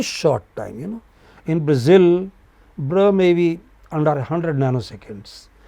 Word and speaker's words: Brazil: Say Brazil. Okay? So zil is more prominent. You don't say Brazil. You say Brazil. You know? So zil is heard for a long time.